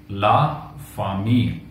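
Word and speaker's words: la famille: अब द फैमिली को French में लिखते हैं ला फामील।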